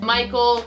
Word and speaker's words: Michal: David who's gonna be between 18 and 30 Michal Saul's daughter ate between 1830s and that's girl and the S is pronounced to Michael she actually was not the first one that's